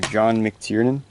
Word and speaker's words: John McTiernan: last action your hero he directed that to john mctiernan that's how you pronounce his but this is a great movie